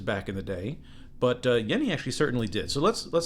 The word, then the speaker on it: Jenny: This is from Yeni, that's right, it's pronounced Yeni despite being a J, that's like the German or Swiss J.